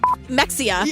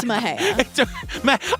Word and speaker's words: Mexia: Mexia. Exactly. To the layperson. Right. But it's Mahea. I would be putting the hey. I'd be putting the hey in Mahea.